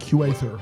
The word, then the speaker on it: Huether: It's not Huther. It's like Huether. Huether, yeah.